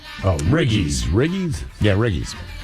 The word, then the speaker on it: riggies: Oh, riggies.